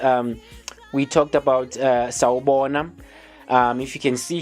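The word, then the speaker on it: Sawubona: know and how you how you pronounce it it's how you spell it in in zulu it's uh s a w u b o n a that's uh saubona that's the that's the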